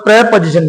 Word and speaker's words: preposition: प्रीपोजिशन। क्या बोला जाता है? प्रीपोजिशन बोला जाता है। जो ये इसका जो प्रोनाउंसिएशन है थोड़ा गलत है। इसको जो बोलते हैं सही तरीका, इसको क्या है? प्रेपोजिशन। क्या है दोस्तों? प्रेपोजिशन। इसका सही उच्चारण होगा। Okay friends, प्रेपोजिशन। ओके, जब प्री और पोजिशन, प्री को जब अलग अलग करो तो फिर प्री बोलेंगे, लेकिन जब दोनों शब्द एक साथ आते हैं तो इसका जो उच्चारण निकलता है वो क्या निकलता है?